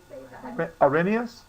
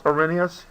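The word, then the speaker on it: Arrhenius: how to uh pronounce arenus this is what a pirate says this is a female yard bird and this is you and me okay aren yes okay arenus all right I know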